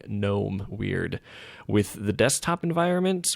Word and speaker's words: GNOME: here, the graphical interface, Apparently that's supposed to be pronounced GNOME, but I also hear plenty of people saying no, it's supposed to be said GNOME. So it's like argued or something whether it's GNOME or GNOME.